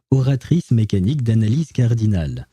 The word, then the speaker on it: Oratrice Mécanique d'Analyse Cardinale: Well, I should probably pronounce it with the actual French accent. Oratrice mécanique d'analyse cardinale.